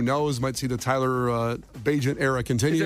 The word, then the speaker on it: Bagent: Might see the Tyler Bagent era continue. Is it Bagent or Bagnet? It's pronounced Bagent.